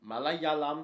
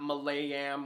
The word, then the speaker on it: Malayalam: kind of speak malayalam a little bit of a tongue twister say it with me malayalam it's not malayam or malayam it's malayalam backwater is a very famous